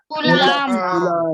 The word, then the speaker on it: Coulomb: कूलाम। कूलाम। Spelling ध्यान देना, COULOMB। क्या लिखा है स्पेलिंग कूलाम का? COULOMB, कूलाम।